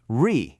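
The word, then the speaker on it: 日: So the character for sun is pronounced re in Chinese.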